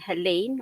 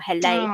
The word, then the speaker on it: Helene: At the moment, we have Hurricane Helene or Helene, Oh, depending where you how you say it. I think in Europe it's Helene, and I've seen a lot of US people say Helene.